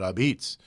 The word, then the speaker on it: apizza: They don't call it pizza, they call it Abitz. So pizza is spelled with an A on the front of it, Apizza, and hence the name District Abitz.